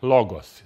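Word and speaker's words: λόγῳ: to exist logo in logos it's again the Y under the Omega so it's not pronounced it's logo wouldn't we wouldn't we also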